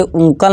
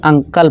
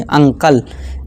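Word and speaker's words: uncle: इसी तरह से उंकल नहीं अंकल पढ़ेंगे, अंकल।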